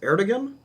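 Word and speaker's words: Erdoğan: I don't know how to pronounce it. It's Erdogan.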